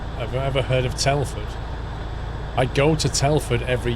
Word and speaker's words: Telford: Have you ever heard of Telford?